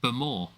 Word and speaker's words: Bowmore: Right, just so you know, I found out the other day, Bowmore is not pronounced Bowmore, it's pronounced Bowmore.